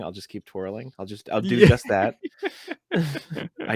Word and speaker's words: deux: It's got to get exhausting after a while, but I've noticed with number 2 speaking, they'll say like "do" a lot, and it's spelled DEUX.